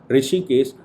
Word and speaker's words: ऋषिकेश: justice राय ऋषिकेश रायाबीन को कहते हैं हा साइलेंट होगा ऋषिकेश राय इन दो जजों की बहन का जजमेंट